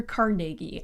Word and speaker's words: Carnegie: And the most fascinating rich dude, in my humble opinion, is Andrew Carnegie. And yes, that's how you pronounce it.